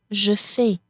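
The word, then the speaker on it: je fais: as you notice here the final s here is silent Jefe so we don't hear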